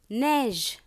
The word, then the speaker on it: neige: E accent grave, E-I, A-I, E-T, E circonflexe is pronounced as A. Chèvre. C-H-E accent grave, V-R-E, chèvre. Neige.